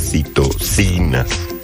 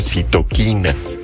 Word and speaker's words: citocinas: proteínas ahorita una este Qué padre oír la pronunciación correcta de las citosinas Porque muchos dijeron citoquinas Y esto es por